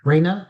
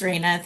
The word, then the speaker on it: Raina: So, uh Rea is am I uh pronouncing your name correctly? Yes, it's Raina.